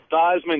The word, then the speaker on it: Theismann: But I want to agree, Ron, Theismann is an idiot. I like when he changed his name to rhyme with the Heisman back in college.